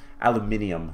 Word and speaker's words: aluminium: there Illume and yeah aluminium seeds as I believe it's pronounced in Britain so we need that